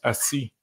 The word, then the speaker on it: Isis: Donc, quand on va dans l'Égyptien, si on sait que Isis se prononce Assi, Assi, dans des langues, par exemple au Bénin, en Évé, dans des langues comme ça signifie la femelle, l'épouse.